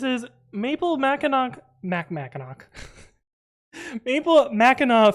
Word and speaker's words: Mackinac: maple Mackinac Mackinac Maple Mackinaw fudge it's spelled like Mackinac because um his spelling that's how it works um and yeah that's